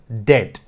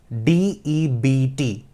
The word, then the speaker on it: debt: words very simple words for example dead d-e-b-t the word is dead but some of them some of us we say debt we want to speak the B out but B is silent so it is dead that another word is